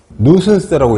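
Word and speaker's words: nuisance: 나와 있죠 성가심이나 불쾌감 뉴슨스라고 읽어요 뉴슨스 혐오감 성가심 귀찮음 보통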